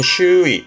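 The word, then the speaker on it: 周囲: 그래서 3번이 두루두루 둘레 있다라는 우리말로는 주위 발음은 슈이 슈이 우리는 주변 고를 거니까 2 4번 뒤자 요거는 칼도자였습니다.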